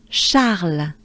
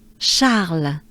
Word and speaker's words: Charles: Charles, Charles, Charles. Right? Let's do it together, ensemble. Let's take a good breath. Charles, Charles.